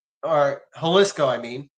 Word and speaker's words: Jalisco: drug cartels, especially in Mexico, like the Sinaloa or the Jaliscoco or Haliscoco, I mean, because it's actually an H, not a J.